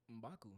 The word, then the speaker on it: M'Baku: Mbaku.